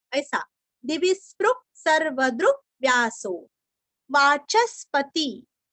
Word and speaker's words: वाचस्पति: वाचस्पति च के ऊपर आघात वाचस्पति रयो निजहा यो निजहा नीरस्व।